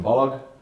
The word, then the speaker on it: Balogh: Balogh. I always have to say Balogh, hard G, like Kellogg, because it comes across often like an Irish name or a Scottish name.